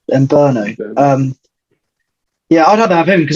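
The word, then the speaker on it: Mbeumo: How's it pronounced? Mbumo.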